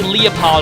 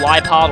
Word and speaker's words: Liepard: And he leads with a Leopard or Liepard or however you want to pronounce it.